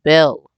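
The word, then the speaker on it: Baal: point now ball you b-a-a-l you would say but it's pronounced Bell and they actually and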